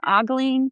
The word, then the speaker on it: ogling: The story you wrote about, I want men to stop, is the word oogle or ogling? What? it's pronounced ogling.